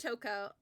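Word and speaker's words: Toko: it's Toco I loved it it's uh it's pronounced Toco uh where's my baby there's my gaming uh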